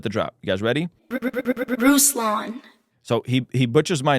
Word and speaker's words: Ruslan: Ruslan.